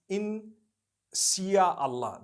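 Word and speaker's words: Insya Allah: Malay language they write in Sia Allah the s-y-a they pronounce it they pronounce the s y the way we pronounce s h so they can write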